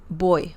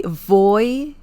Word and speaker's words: voy: boy uh remember that the V sound in Spanish is very similar to the b as in bell sound so boy boy if you say voy it's okay people will